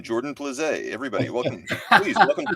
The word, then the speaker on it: Plosky: And to your point, the last name is pronounced Plosky, although I did like Plosky, Jordan Plosky.